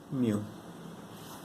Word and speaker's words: mu: this is the Greek letter, Greek alphabet called mu. I'll write it for you here. It's written like this, okay? But some people just write U. This is pronounced mu, okay?